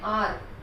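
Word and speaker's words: hour: start हो रहा है यहां पर यह साइलेंट है और इसको हम बोलते हैं आर तो इसके आगे हमें लगाना पड़ेगा और ये बहुत इंपॉर्टेंट है वह साइलेंट होता है उसका जो प्रनंसीएशन है वो ए गया ऑनेस्ट ओ से ए गया राइट थोड़ा हिंदी आपको उसे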